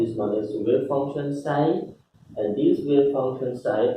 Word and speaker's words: psi: Wave function pronounced as psi.